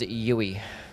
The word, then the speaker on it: Youwy: My name is pronounced Yui.